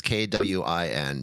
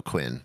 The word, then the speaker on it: Kouign: But how do you pronounce it? That's the real fun question. Kouign Amann. Queen. That's not Queen. It is Kouign, dude. Kouign. Well, the pronunciation says Kwin, dude. So Quinn.